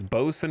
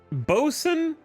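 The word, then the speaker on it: boatswain: devices for visual observation it's bosen isn't it do i chat zard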